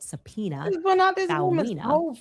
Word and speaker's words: Sapena: her father, a man named Sapena, spelled phonetically just as I'm saying it, Sapena, was very vocal